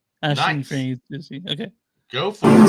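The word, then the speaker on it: Aisling Franciosi: Ashling Franciosi. Ashling Franciosi.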